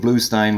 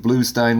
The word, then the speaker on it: Bluestein: better Oh exactly Steve blue Stein with us the name is pronounced Stein spelled blue st ein when you look it